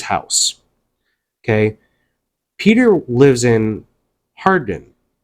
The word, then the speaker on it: Hawarden: Peter lives in Hardin. It's spelled Hawarden, but it's pronounced Hardin.